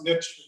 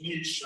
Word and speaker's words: niche: always a question of whether or not to pronounce niche niche i hear both but it is certainly